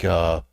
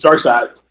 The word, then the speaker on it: Darkseid: occasional thing with, like, Darkseid. Or Darkseid, or however the fuck his name is pronounced. Darkseid. Well, it's not spelled side. It's spelled C-E. It's like Saeed.